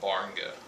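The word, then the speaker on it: Gbarnga: We stayed in a little town about 30 minutes from the orphanage called Barnga. It's actually spelled with a G, G-B, but the G is silent.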